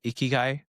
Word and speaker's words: ikigai: And so, have you ever heard of the Japanese concept of ikiguai? So, it's spelled I K I G A I.